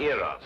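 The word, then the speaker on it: Eros: influence of cockney stagehands she added an h where there shouldn't have been one what then spell it as she spelled it but without the h e r o s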